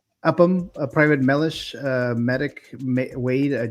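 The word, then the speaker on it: Upham: How do you pronounce that? Upam Upam. Uppam.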